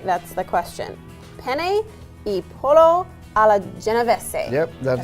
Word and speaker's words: Penne e pollo alla Genovese: Now, whether or not I can pronounce it right, that's the question. Penne e pollo alla Genovese.